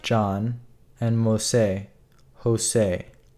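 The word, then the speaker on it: José: Pronounce the J in Jose as if it was the J and John. So it's Jose. You're saying it's Jose. Jose.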